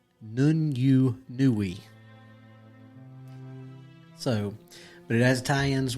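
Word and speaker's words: Nûñ'yunu'wï: But in Cherokee, it is pronounced Nun-yu-nui.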